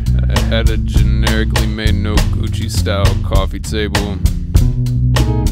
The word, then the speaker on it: Noguchi: had a generically made no Gucci style coffee table I looked up the pronunciation so don't correct me blame Google no Gucci it was falling apart